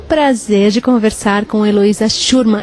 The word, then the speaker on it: Schurmann: Olá, para você que nos acompanha, nós estamos tendo o prazer de conversar com Eloía Shurman. É assim que pronuncia seu nome? Shurman.